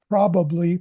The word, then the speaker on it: probably: Uh, probably. P-p- probably. That's got a P and a B sound in it. Probably. Probably with an emphasis on the first syllable.